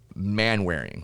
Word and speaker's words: Manwaring: And we have Manwaring. Did I say that right? You said it right. It's like, what is that man wearing?